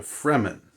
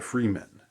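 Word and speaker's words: Fremen: re m-- n so it's sort of like free men but but they're the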